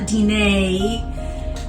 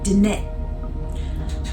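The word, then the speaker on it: Diné: glottal stuffs like that so it's not DNA it's Danette I hope I hope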